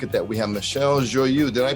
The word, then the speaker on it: Joyeux: We have Michelle Joyeux. Did I pronounce that correctly? You certainly did. Woohoo! It's not Joy X or Joy. It's been pronounced as such before, and many other variations.